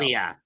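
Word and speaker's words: Ilja: How do you pronounce his first name? I could never figure out. Ilia.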